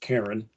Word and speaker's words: Carron: Let me just start by saying the writer's name is spelled Carron. I think it's deeply significant that it's pronounced Karen.